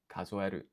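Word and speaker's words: 数える: Like, the pronunciation here, 数える、 I can hear the E instead of an I, so that's good.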